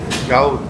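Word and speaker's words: doubt: ডাউট আমরা বলি না যে আমার ওর উপরে ডাউট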